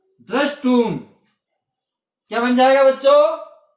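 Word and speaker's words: द्रष्टुम्: तो सकार होता है, सूत्र के माध्यम से से का श हो जाएगा, मूर्धन्य स। वो जो त है इसका ट हो जाएगा उच्चारण के स्थान पर, क्योंकि शब्द का एक ही उच्चारण हो जाता है। तो हमारा शब्द बन गया द्रष्टुम।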